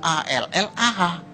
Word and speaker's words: Allah: Cuma dia membacanya, ngejanya beda sama kita. Kalau kita cukup Allah gitu. Kayak bercanda sama teman aja, Allah lo gitu aja tersinggung gitu ya. Kayak begitu, ringan gitu. Bacanya itu ringan. Tapi kalau mereka itu terpengaruh dengan bahasa Arab. Jadi nggak ringan, Allah.